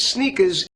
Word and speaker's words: sneakers: in Spanish s Zapatos in the word sneakers we have a z z a z sound at the end sneakers and we also want to raise our intonation on that first syllable sneakers sneakers they're called